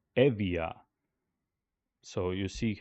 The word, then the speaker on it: Euboea: correctly, but either way, B or sound B became pronounced as V, softer, like V. B became V. So, so let's see the name Euboea, or as it was pronounced in ancient Greek, I believe, Euboea became Evia.